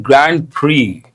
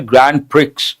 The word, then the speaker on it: Grand Prix: Now on the eve of the season opening Australian Grand Prix there's one important word here. Usually people mispronounce. They say Grand Prix. No, X is silent.